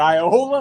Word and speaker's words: Iola: It It's still amazing that Iola and I owner are three syllables, though.